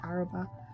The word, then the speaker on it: Araba: your youtube name so my youtube name is a-r-h-b-a-h which is a pronunciation spelling of my name which is araba so people call me araba but you notice that they just skip through the emphasis on certain letters and the age gives you that ah that